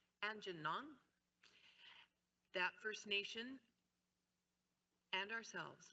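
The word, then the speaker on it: Aamjiwnaang: Now, we've had a number of introductory meetings with the Anjinwang, no, I said it wrong, Anjinong, that First Nation and ourselves look forward to ongoing business prosperity and opportunity for the people in the community.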